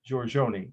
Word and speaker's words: Giorgione: I know that's correct because I have friends from Italy pronounce it. Giorgione, the artist.